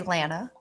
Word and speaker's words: Lana: I say Lana. Lana. Okay. Not like Lana Del Rey or Lana Turner or like. Anytime I would say hello to her on the show, I would say Lana, wouldn't I?